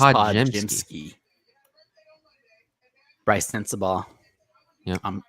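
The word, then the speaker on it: Podziemski: Is that how you pronounce his name? Podemski? So Nick told me way back in the fall, it's Podjemski.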